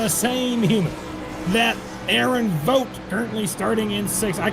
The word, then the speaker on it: Vogt: That Aaron Vogt, currently starting in 6th. I can't pronounce his name 100% right. Vogt is correct. V-O-T-E spelling is how it's pronounced.